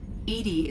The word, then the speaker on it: EDI: have a specific inquiry why are you named edie edie is the phonetic pronunciation of edi that is an acronym for